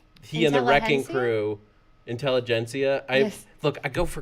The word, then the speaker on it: Intelligentsia: and The Wrecking Crew Intelligentsia I look I go for coffee I'm still I know it's pronounced like the coffee place I was saying before I was like intelligence every time okay yes